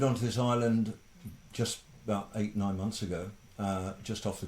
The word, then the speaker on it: ait: And do you know what an 8 is? No, Ah. tell us. An 8 it's spelled AIT, and it's also spelled EYOT, and it's an island on a river, and it's built up over time.